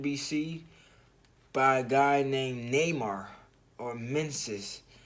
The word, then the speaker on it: Narmer: Egypt was founded in 3400 or 3200 BC by a guy named Neymar or Menses. Neymar is spelled Narmer.